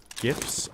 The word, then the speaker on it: GIF: creator of uh the jiff file format says it's jiff like he's wrong he should have spelt it with a j oh see those are